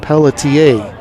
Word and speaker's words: Pelletier: baseball website, you'll see Pelletier wants his last name pronounced just like that, Pelletier. As he takes for a ball 2-0. It looks like Pelletier. It ends with an R, but it says on their website pronounced Pelletier.